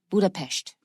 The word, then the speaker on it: Budapest: make Budapest except that s in Hungarian is pronounced sure so it's actually Budapest oh that's what the showing idea when the